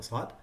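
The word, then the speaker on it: صاد: Don't use your lips to say the sad. Say as, as. But also you have to focus on the isti'la and the itbaq, the elevation and the closure. It has to be heavy.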